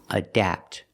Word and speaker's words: adapt: Adapt. Remember the short ah sound like black cat.